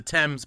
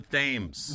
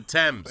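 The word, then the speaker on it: Thames: but yeah it's the temps by the way not the themes no not the themes you heathens you American heathens oh my goodness it's the temps exactly and it's not Lester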